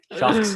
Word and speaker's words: Sharx: Sharks avec un X, Sharks, Sharks, ouais.